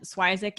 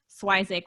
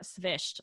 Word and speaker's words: Swyszcz: even with the pronunciation schweizak is just what we tell everybody so i i tell people think swissack like isaac but if we want